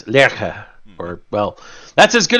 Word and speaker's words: Lerche: It is the German word for lark, and it's Lerche.